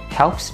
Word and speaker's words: helps: Mình sẽ nói âm P với âm S lại ha.